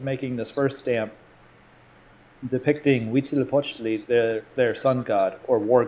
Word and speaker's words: Huitzilopochtli: there's a little button you can click for pronunciation. And there's a very Central American sounding guy that says, Huitzilopochtli.